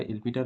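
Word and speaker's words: L'Hôpital: হচ্ছে এলপিটাল রুল বা এল হসপিটাল rule এলপিটাল rule বা এল হসপিটাল রুল হ্যা তো উচ্চারণটা এলপিটাল হয় কিন্তু দেখার সুবিধা এর অসুবিধা তুমি উচ্চারণ করতে পারো।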